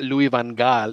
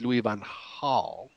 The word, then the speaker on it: Louis van Gaal: Hulett oil Goulet because another in that holiday pronounced cheese like ages so it's not louis van gaal it's Louie van how and it's not rude Goulet it's rude Howlett